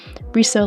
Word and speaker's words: riso: It's not actually a risograph, it's risograph cuz my tutors made sure to make a big deal about how it's riso like miso, like miso soup.